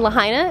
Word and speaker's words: Lahaina: gonna go to Lahaina we're in Lahaina it's how you say it we're in Lahaina